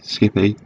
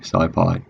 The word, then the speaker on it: SciPy: sci-fi in python and some people might want to pronounce this skippy but really don't it's definitely sci-fi so what is it